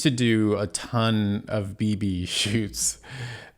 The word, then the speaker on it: bebe: And then I used to do a ton of BB shoots. Bebe is the French pronunciation, but BB, I did a bunch of their campaigns.